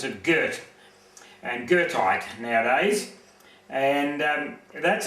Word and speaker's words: Goethe: They pronounce it Goethe, and Girthite nowadays.